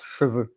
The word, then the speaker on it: cheveux: Cheveux is not chevaux. Chevaux is the plural of cheval, and cheval is horses. And so it's really interesting and important to well pronounce it. You say cheveux for the hair and chevaux for the horses.